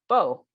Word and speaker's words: Bo: And I'm like, it's Bo, as in Bo Derek and Bo Jackson. like youth, and like Robert E.